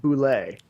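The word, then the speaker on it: bulette: Gary Gygax once in an article said that the correct pronunciation, despite bullet having two T's and an E, is pronounced boulet.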